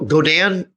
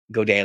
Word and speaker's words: Godin: So Godin took a page out of Godin, I believe is how it's pronounced.